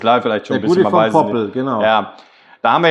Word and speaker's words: Gudy von Poppel: Habe ich es jetzt richtig ausgesprochen? Jetzt hast du es mal richtig gesprochen. Goodie vom Poppel.